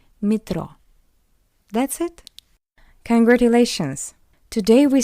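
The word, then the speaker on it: метро: And we can see that after M we have Y, that's why M is soft, metro, metro. But Y is unstressed, that's why we pronounce it as E, metro.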